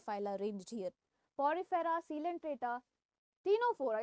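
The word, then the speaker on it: Ctenophora: Arranged here, Porifera, Coelenterata, टीनोफोरा, इसमें सी silent है इसलिए टू से टी, ठीक है, टीनोफोरा, प्लैटीहेलमिंथस, एस्किहेलमिंथस, Annelida, arthropoda, Mollusca, Echinodermata, Hemichordata and Chordata, ठीक है, ऐसे आप याद कर सकते हैं।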